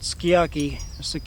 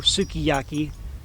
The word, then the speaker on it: Sukiyaki: His big hat was Ueomute Aroko, was called Sukiyaki or Sukiyaki, as Americans badly mispronounce it.